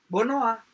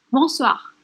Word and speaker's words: bonsoir: Bonoa. Itu benar, tapi pengucapannya salah. Oke. Jadi, selamat pagi, bonjour. Bonjour. Selamat malam, bonsoir.